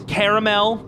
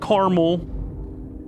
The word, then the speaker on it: caramel: it's Caribbean and also it's caramel it's not caramel another thing that makes you sound like a doofus it's an extra a in there that you're just ignoring and I get silent